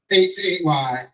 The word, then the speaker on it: Hayti: IET happened to be spelled Hayti, which there are 8 cities and neighborhoods here in the US spelled Hayti, pronounced Hayti.